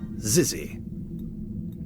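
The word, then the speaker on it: xyzzy: Fun Cave okay so it says zizzy okay so that's how you pronounce it that's thanks it says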